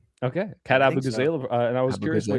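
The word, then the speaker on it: Abughazaleh: Abu is that how you pronounce it? Yeah. Okay. Cat Abu Gazala.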